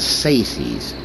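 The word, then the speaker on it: Tsaesci: Only they stay hidden, they stay under their mountains, and they let the Sekethi, the Sexies, the Saces. That is how you pronounce it, the Saces.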